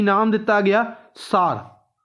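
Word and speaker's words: Tsar: सार। T silent है इत्थे, सार बॉम्ब।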